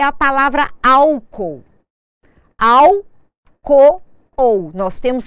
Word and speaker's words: álcool: casos um exemplo muito comum é a palavra Álcool al co ou nós temos que separar os